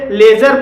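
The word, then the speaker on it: ledger: budget पढ़ा जाएगा लेजर लेजर में भी जी के पहले डी आया है और यहां पर डी साइलेंट है और इसलिए इसे लेजर पढ़ा जाएगा कजल कजल में भी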